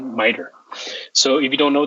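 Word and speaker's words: MITRE: framework called miter um m-i-t-r-e but you pronounce it miter so if you don't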